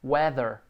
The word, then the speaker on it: whether: Isso, a mesma pronúncia de tempo, a escrita é diferente, mas a pronúncia é igual, weather.